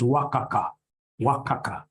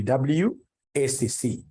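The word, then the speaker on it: WACC: this thing professionally as wac you get somebody calling it Waka Waka no no no no that's very unprofessional it's supposed to be wac it's supposed to be W ACC yes so on this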